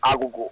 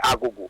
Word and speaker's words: Agogo: fofo planti krobi ti say agogo ni pronunciation pa ye ago enye agogo but abrofo no ba